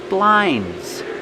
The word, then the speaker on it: blinds: Blinds. You don't really hear the D.